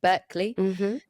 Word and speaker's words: Berkeley: There's a wonderful research study by University of California, but I always say it wrong. It's not Berkeley, but Berkeley.